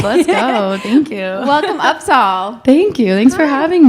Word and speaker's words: UPSAHL: I'm like, no, it's UPSAHL.